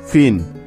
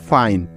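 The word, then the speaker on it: fine: কাজেই আমরা যদি ইটাকে শেষে না নেই তাহলে কিন্তু এখানে আই এর শর্ট সাউন্ড ই হবে। তখন উচ্চারণটা হবে এফ আই এন, ফিন। ঠিক আছে? আর ইটাকে যদি নেই তাহলে হবে ফাইন, এফ আই এন ই, ফাইন।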